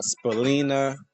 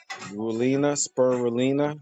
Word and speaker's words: spirulina: And try to take supplements like, you know, uh, Spelina. That's something that I I take. Uh, spulina, spirulina. I always pronounce it wrong, but it's S P I R U L I N A spirulina and that's very good